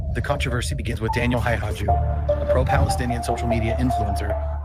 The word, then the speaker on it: Haqiqatjou: Well, I know that it's pronounced like Haqiqatjou or something like that, with like a softened guttural thing that is not really like the Arabic, but you can hear him say it in a little bit.